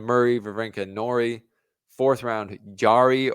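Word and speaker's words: Jarry: Vena Nori fourth round Yari or Jerry apparently I'm saying it wrong Jerry or bz like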